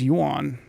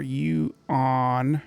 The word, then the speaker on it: yuan: The Chinese yuan is the currency here. That word is one syllable. I hear people go yuan or you-on, and wow, it's kind of painful.